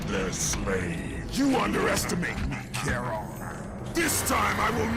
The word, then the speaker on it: Charon: While I'm fighting Charon, or Sharon for the more prickish of those out there who feel like it's important to state that his name is pronounced differently possible.